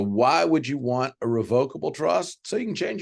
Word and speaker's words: revocable: pause for a moment revocable irrevocable I am pronouncing that way just so you clearly hear the difference in what I'm saying the pronunciation for each is correct both ways all right so revocable revocable irrevocable irrevocable I've